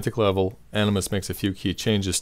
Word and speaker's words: Animvs: first off it's spelled animus with a V but the V is pronounced you so just pretend it's Latin this funny spelling was